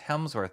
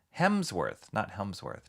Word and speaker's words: Hemsworth: It's Chris Hemsworth, not Helmsworth.